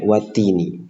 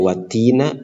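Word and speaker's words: وَالتِّينِ: kasrah makanya di sini kita bacanya wattini tidak watina atau tidak wattinu Tapi harus wattii karena ada harfu qasam yaitu wau kemudian kata attin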